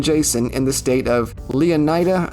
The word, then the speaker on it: Leonida: in the state of Leonida, I think is how they pronounce it, although I would argue it should be pronounced Linada, like Florida.